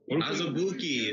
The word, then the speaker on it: Azubuike: Azubuike is how Adam Silver pronounced it.